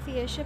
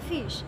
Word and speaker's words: Fiesch: তা আমরা এখন ফিয়েসে পৌঁছে গেছি। অ্যাকচুয়ালি ফার্স্টে এই জায়গাটার প্রোনাউন্সিয়েশনটা ভুল জানতাম, লাইক আমাকে বলছিল ফিশ, বললাম আচ্ছা ফিশ বলে জায়গা হয়। অ্যাকচুয়ালি স্পেলিংটা হচ্ছে FIESCH, রাইট? এটা হচ্ছে ফিয়েস।